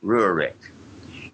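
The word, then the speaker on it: Rehurek: It's spelled R-E-H-U-R-E-K, Rurik, at South Dakota State.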